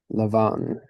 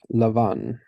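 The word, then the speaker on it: לבן: oh leave it yeah English Laban in Hebrew Lavon why isn't that a an event yeah in in many languages uh bees become v's and V's become B's I I don't know why English is the way that it is but um yeah but in Hebrew we've got Lavan now this one is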